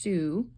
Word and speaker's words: Sioux: There's Calvin Coolidge, welcoming representatives of the Sioux tribe, that's pronounced Sioux, in 1925.